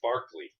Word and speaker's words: Berkeley: there oh okay because Berkeley California was named after a guy Irish uh uh philosopher named George Barkley and they mispronounce it oh but probably Irish people might go EA something else like barley yeah you know I